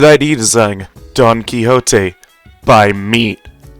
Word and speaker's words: Meat: It's pronounced meat, by the way. I'm saying by Meat, like my YouTube name, not by me. I'm saying by Meat. I'm sorry I don't enunciate the T enough, but yeah, I am saying by Meat.